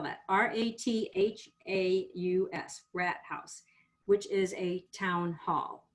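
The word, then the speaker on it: Rathaus: um it's a very pretty it's called a rat house let me spell that r-a-t-h-a-u-s rat house which is a town hall which i find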